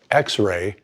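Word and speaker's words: Xrai: Two companies, X-Ray, that's spelled X-R-A-I, and Xander, that's X-A-N-D-E-R, have developed live transcription software for smart glasses.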